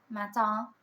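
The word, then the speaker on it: matin: mat m a t i n. You don't really pronounce the end.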